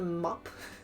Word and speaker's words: map: or like these things in Dutch we call it the mop like uh spelled like map but a map is